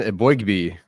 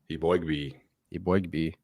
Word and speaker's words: Eboigbe: that's funny that's Justin Ebby so it turns out I do have to pronounce his name IB bo b so we got a